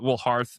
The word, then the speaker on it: Hearth: Hearth actually, but I pronounce it Hearth.